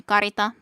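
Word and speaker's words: Carita: case, in a sense, because they are pronounced the same if it would be a K letter or a C letter.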